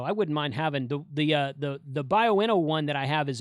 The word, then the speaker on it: Baofeng: So I wouldn't mind having the Baofeng one that I have is a 240 watt hour.